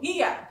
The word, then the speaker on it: hija: Hija. Hija. La hija. Remember, no H sound. La hija.